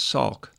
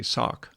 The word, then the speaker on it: Salk: this video to Jonas Salk as a child I received a Salk polio vaccine or maybe I should say sock I think that's how it's pronounced and then later I